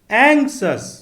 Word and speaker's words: anxious: एंक्सस अर्थात चिंतित या व्याकुल, इसकी स्पेलिंग है ANXIOUS और प्रोनंसिएशन है एंक्सस।